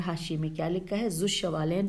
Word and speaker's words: ذو الشمالین: میں کیا لکھا ہے، ذو الشمالین، پہلے میں ہجے بتا دوں، زال واو الف لام شین میم الف لام یہ نون، ذو الشمالین یا ذو الشمالین۔ اس کے بارے میں